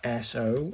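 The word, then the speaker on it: そ: And then we'll move on to this one, SO. It's got 2 strokes, 1 little thing there and 2. Pronounced like the SO in soy.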